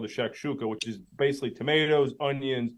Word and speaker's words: shakshuka: It's called I'm going to pronounce it in a more American way. It's called the shakshuka, which is basically tomatoes, onions, and 2 eggs on it.